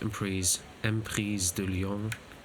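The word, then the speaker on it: Emprise du Lion: And yeah, then we go to Emprise de Lyon, to pronounce it in French, because it is a French name.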